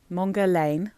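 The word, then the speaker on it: Mon Guerlain: the original Mongol along mongar Lan I always say mongon because it Rhymes but I don't think that's how you're supposed to say that word at all so mongar Lan mongan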